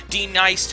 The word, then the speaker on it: D-Nice: side of the Mississippi, D-Nice Takahara, his name is not pronounced Denise, the martial artist Mega Man Street Fighter Ryu guy, and Golfy, who is a robot who makes coffee.